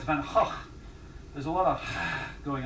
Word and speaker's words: Van Gogh: It's like it's not Van Gogh, it's Van Gogh.